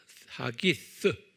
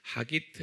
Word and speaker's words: 하기스: HAGGITH, 하기스. 다시 말로 하기트, 한국말로는 어떻게 번역되는지 모르겠어요. 하기스.